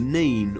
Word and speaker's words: Nene: at the heart of the Nene or Nen Valley. The correct pronunciation of Nen or Nene has been a hotly debated topic amongst locals for centuries, and it doesn't look to be resolved anytime soon.